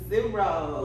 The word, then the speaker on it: Cicero: in Atlanta, Georgia with rapper MC Cicero. What's going on? What's going on? Cool. So, how do you say your name?